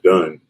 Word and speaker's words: Dunn: run so because my last name rhymes with run i just put done that's where it came